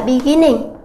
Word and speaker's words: beginning: vì sao như thế chúng ta nhìn thấy là động từ này có bao gồm hai âm tiết hai âm tiết B và gim nhưng trọng âm nó lại âm tiết thứ hai và trọng âm ở